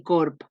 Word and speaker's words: corb: de paraula, llop i corb. Com veieu, es pronuncien igual, tant la P com la B, quan van a final de síl·laba.